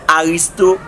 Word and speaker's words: Artisto: Bon paquet monde qui pas qu'à prononcer nom non, c'est Artisto A-R-T-I-S-T-O. Gen monde qui dit Aristote, ça pas problème.